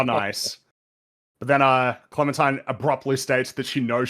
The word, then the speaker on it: Clementine: And her name rhymes with Valentine. Clementine.